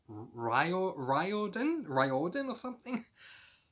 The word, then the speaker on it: Riordan: it's rile rile Dan Riordan or something I've been saying it wrong all this time by saying reordan and I do apologize but it looks like it's felt reordan but it's Riordan or something anyway so in March